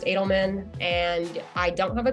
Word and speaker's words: Edelman: folks find you yes so my LinkedIn Edelman that's the fanatic way it's actually pronounced Adelman and I don't have a Twitter but you